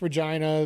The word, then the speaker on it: Regina: Yes, Regina, the city that rhymes with fun.